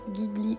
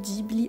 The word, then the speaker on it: Ghibli: deviné princesse mononokeé donc un Gibli ou giibli en fonction de la prononciation que vous avez j'ai vraiment beaucoup aimé